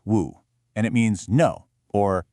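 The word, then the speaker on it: 無: It was just this one single powerful syllable, moo. In Chinese, it's woo, and it means no or not or without.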